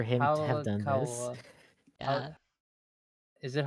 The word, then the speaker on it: Hayakawa: Hayakawa. Yeah. Is it Hawakawa?